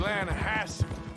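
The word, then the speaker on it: Lannahechee: rode down to the Lana Hetchy River I caught some beautiful steelhead trout you may not know the Lana hatch it runs right near here yeah but is pronounced Lana Hass why is everything in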